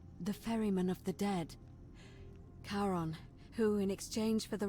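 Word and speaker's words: Charon: it's just as you described it only your pronunciation is a little she didn't give us a coin the name you heard wasn't Karen it was c-h-a-r-o Baron as in Caron the ferryman of the Dead karon who in exchange for the right coin helps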